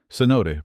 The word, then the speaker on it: cenote: Cenote pronounced cenote.